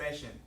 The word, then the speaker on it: patient: There's bump bump. 2 syllables, and I stress the first one.